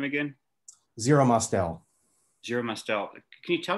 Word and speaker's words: Zero Mostel: How do you pronounce his name again? Zero Mostel.